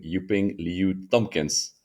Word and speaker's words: Yuping Liu-Thompkins: docs today I have the pleasure of interviewing yuping Liu Tompkins um welcome you ping I hope I pronounced your name correct yes definitely you got